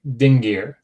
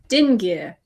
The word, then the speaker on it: dingir: That's how you write dingir. Notice that you hear the ng in the middle because you have that nasalized g, right? So because keyboards don't always have easy access to a nasalized g like that, they will